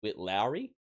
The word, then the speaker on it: Witt Lowry: It is by an artist I've never heard before, which is, I believe it's pronounced Witt Lowry. I am hoping I'm getting that right, Lowry being the surname, but the first name's Witt. And the song is The War I'm Scared to Face.